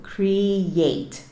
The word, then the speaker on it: create: Então, em vez de eu falar create, que é o que a gente tende a fazer, eu vou falar create. Ou seja, é como se a segunda sílaba começasse com o som do y, que é o som do Y. Yate. Create. Certo?